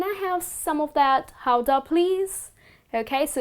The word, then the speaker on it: Gouda: Well, looking at the letter G, well, there's a probability that you would pronounce it as Gouda. But that's incorrect. You are mispronouncing it. Well, the correct way to pronounce this type of Dutch cheese is Gouda. So it goes like this. Gouda. Well, it comes after the city of its origin.